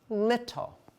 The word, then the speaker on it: little: It's 2 syllables. What is that E doing in that second syllable? I am not sure. That's good, because that again is another rule. I say you can't have a syllable without a vowel sound. Oh. But you can have a silent E in a syllable and you'll get a vowel.